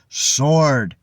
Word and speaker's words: sword: sword instead of Sword there's no W sound in the word sword it's like there was no w at all sword so the the lesson